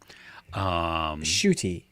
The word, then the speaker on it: Ncuti: So, Shooty, as Shooty. in NCUTI. yes, All right.